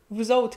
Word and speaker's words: vous autres: Vous autres qui dansez comme le feu, vous autres, mais on prononce pas la fin, vous autres qui dansez comme le